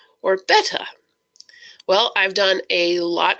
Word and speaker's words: betta: all we are going to settle how you pronounce the word betta do you say beta or betta well I've done a lot of research on this and actually the correct correct pronunciation is betta so I am still learning how to do